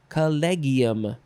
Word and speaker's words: collegium: the russian collegiate k-o-l-l-e-g-i-y-a so how do you say this word collegium that's what i'll say next is columbolin columbolin yeah